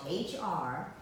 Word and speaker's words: Hrabowski: And it's spelled H, it starts with an R, and then H, H-R-A-B-O-W-S-K-I, Hrabowski. The H is silent.